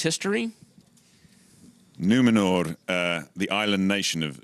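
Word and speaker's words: Númenor: island kingdom of numenor well-pronounced r on the end numenor numenor i don't want columbia bursting and kicking me in the teeth can you uh tell us a little bit about numenor and its history numenor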